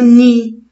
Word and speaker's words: nid: et bravo ni mais la lettre d à la fin je la prononce pas c'est une lettre muette c'est le mot ni le nid de l'oiseau